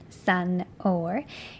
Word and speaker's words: san fhómhar: San oh-wer. Here we have the shevu before the F, so it takes away the F sound.